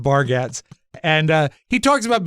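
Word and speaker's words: Bargatze: a comic name uh Nate bargates I think it's pronounced barats and uh he talks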